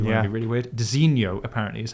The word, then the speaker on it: designo: and I I had to look up the pronunciation of this. It's Dino. Dino. Dino. I always thought it was Designo or Digno, if you want to be really weird. Dinoho apparently is how you pronounce their kind of